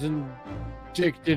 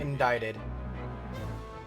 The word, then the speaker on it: indicted: A leader of one of the capital's criminal organizations was inicted and prosecuted. Indicted. The C is silent.